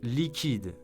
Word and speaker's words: liquide: Let's pronounce this beautiful name together. Jacqueline. Jacqueline. Jacqueline. Number 3 is liquide, French for liquid, but also used to mean cash.